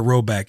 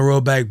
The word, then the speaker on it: Rhoback: you like Bussin with the boys, you wear Roback.